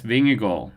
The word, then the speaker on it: Vingegaard: So um yeah, Yes Vingal is the pronunciation for horse lips asking in the chat.